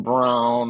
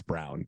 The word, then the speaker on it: Braun: Braun I know he I know they say it's round but you can't spell it that way and tell me that that's brown you just can't like